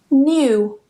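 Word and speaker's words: knew: Basically, whenever you get this combination of K and N together at the beginning of a spelling, we just don't pronounce the K. It's completely silent. Don't ask me why it's there. I didn't put it there. Someone else did. Blame them. So just don't pronounce the K. Go straight to the N and pronounce it as N.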